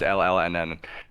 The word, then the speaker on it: LLNN: Is that how you pronounce it? Is it just LLNN? That's literally their name. It's fucking crazy. Luna. Just LLNN.